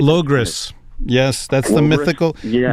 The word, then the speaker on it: Logres: And something that Lewis talks about is like, I guess I don't exactly know how to pronounce it. It's like Logos or Logres. Like Logres.